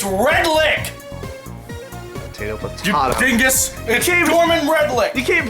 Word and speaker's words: Redlich: wait wait wait wait did you just say gorman redlich yes it's red lick potato pudding dingus you